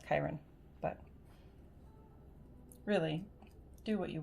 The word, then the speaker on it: Chiron: would advise to learn is that it's not pronounced chiron it's pronounced chiron but really do what you will as for